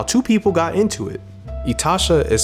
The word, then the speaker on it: itasha: made and how two people got into it itasha is spelled i t a s h a etasha is a japanese term for painful car quite